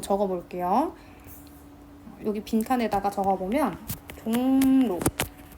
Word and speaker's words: 종로: 볼게요 여기 빈칸에다가 적어보면 종로 보면 종목 발음 어떻게 하냐면 종로라고 발음하는게 표준 발음이거든요 이응 뒤에 리을이 오잖아요 그러면이 리을이 니은으로 바뀝니다 요것도 비움말은 된다는 뜻이에요